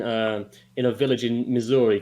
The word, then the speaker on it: Missouri: think you mean no i think he it's pronounced missouri tom not misery ah yes the one in misery this happened